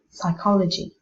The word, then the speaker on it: psychology: In the words psychology, not psychology, psychology, psychic and psychiatry, you must never sound the P.